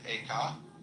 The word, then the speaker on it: Eka: The second was named Eka, I'm using the Japanese pronunciation, who was formerly a general of the army.